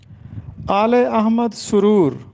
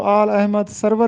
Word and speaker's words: آل احمد سرور: ہم نے کتب خریدی۔ آل احمد سرور، اکثر طالب علم اس کو آل احمد سرور پڑھتے ہیں جبکہ اس